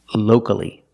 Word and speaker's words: locally: syllable before c-a-l-l-y so the a is not silent locally and the last word